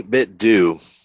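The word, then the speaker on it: 8BitDo: How do you say that? 8-bit do? They say 8-bit do. I right. say 8-bit do. That 8-bit do. So but they say do.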